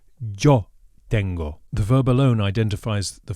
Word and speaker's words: tengo: Tengo. Resist the temptation to pronounce it tengo. With a light T and a pure O, we get tengo.